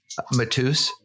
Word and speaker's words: Matus: Is that how you pronounce his last name? I didn't know that. Matus? Yeah. I believe so. That's good. I keep calling him Mattis.